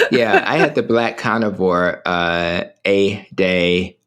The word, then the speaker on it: EDA: I'm still, I had the black carnivore, A-Day, A-Day Fox. It's spelled EDA, and they have really encouraged me to at least be open to it.